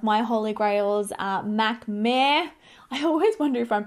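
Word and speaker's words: Mehr: holy grails uh mac mare i always wonder if i'm pronouncing that right it's m-e-h-r meh it's like meh by far hands down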